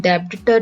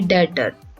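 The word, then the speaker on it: debtor: B silent होता है, वैसे ही डेटर में बी साइलेंट होता है। यहाँ पर भी हम डेबिटर नहीं बोलते हैं, इसका सही प्रोनाउंसिएशन है डेटर।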